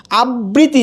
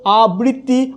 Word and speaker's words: আবৃত্তি: আবৃত্তি যদি বলা হয় তাহলে এখানে যদি দুইটা ব বলা হয় তখন এটা উচ্চারণটা কি হবে, ভুল হবে।